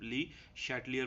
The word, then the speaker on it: Le Chatelier: discuss करते हैं देखो प्रोनाउंस करना बेटा हर बंदे का अपना होता है वो कुछ इसको चैटलियर भी पढ़ते हैं शट लियर भी पढ़ते हैं तो ज्यादातर प्रोनाउंस इसको बेटा शटलर के लिहाज से किया जाता है अच्छा ली शटलर